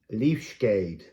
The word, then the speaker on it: Leafskade: Leafskade. Leafskade. Leafskade. So here the C is again a hard K sound.